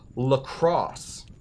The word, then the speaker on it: La Croix: It should be lacrosse. Lacrosse. That's how the Wisconsin people say it. Now, I will always call this LaCroix, because first of all,